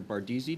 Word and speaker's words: Bardeesy: Bardizzi. Did I pronounce that correctly?